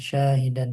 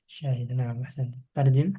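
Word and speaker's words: شاهدا: Inna arsalna ilaikum rasulan syahidan 'alaikum kama arsalna ila fir'auna rasulan. Fa'asha fir'aunur rasula fa-akhadznahu akhdzan wabila. Sekarang, dari "syahidan", "sa" diucapkan panjang, "syahidan", bukan "hi" yang diucapkan panjang, "syahidan", terjemahkan, ah.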